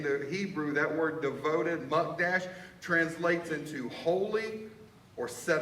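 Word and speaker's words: mukdash: in Hebrew ish m-u-k-d-a-s-h I'm pronouncing it wrong just so you all know it's muck Dash that word devoted and in the Hebrew that word devoted monk Dash translates into holy or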